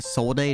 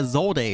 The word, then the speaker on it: Zolde: Also, I really just want to say a Solde, not a Solde, but apparently a Zolde is the correct pronunciation.